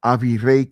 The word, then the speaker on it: Avirey: But you don't say it like that. You say Avery Cain. But if using, I guess in Spanish you would say Avire, but because Avi means first and Ray means king, so first king Cain.